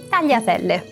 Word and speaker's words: tagliatelle: A terceira palavra é tagliatelle. Tagliatelle. Vou pedir para você vir comigo e começar pelo final. Le. Telle. Telle. Pense que está escrito te e separado le. Telle. Iatelle. Tagliatelle.